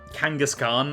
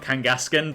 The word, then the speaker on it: Kangaskhan: I know it's Kangaskhan, not Kangaskan, but I just I can't I can't get my head around pronouncing it correctly.